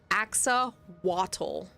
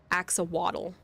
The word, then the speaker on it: axolotl: Did you hear any pronunciation difference? Axawatl. Axawatl. Like it waddles around, like with a W. They're throwing a W in there instead of another L.